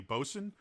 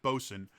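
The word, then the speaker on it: boatswain: uh specifically mention the boson uh which is spelled boats swain or boat swain uh but it's pronounced boson and if you don't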